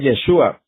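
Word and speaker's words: ישוע: nombre, pero, se mencionaba, le quitaban una letra y lo pronunciaban así, Yeshu. O sea, era el nombre de él, Yeshua, pero lo pronunciaba Yeshu.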